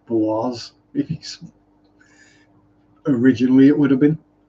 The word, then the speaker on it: Boise: I know of Boise, Idaho, or Boise, if you pronounce it correctly.